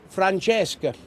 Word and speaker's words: Francesca: Well, anyway, this was called Francesca, but in Italian it would be pronounced Francesca. All right.